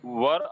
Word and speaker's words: were: हाँ, वर आई a bird, वेयर नहीं बोलते बेटा, वेयर की स्पेलिंग WHERE होता है, वेयर, ये वर यूज करते हैं, वाज वर।